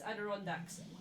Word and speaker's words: Adirondacks: Also, Gemma, it's Adirondacks. Right, thank you. I now know how to pronounce it.